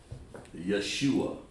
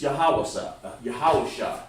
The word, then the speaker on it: Yahawashai: Yeshua. Makes me sick just to hear them trying to pronounce our holy language, you see. And it's really, it's Yahawashai right here.